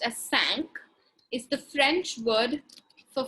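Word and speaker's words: cinquain: write a poem which is known as a sinking has anyone ever heard of a sink in before okay the word sink it's actually pronounced as sank is the french word for five okay a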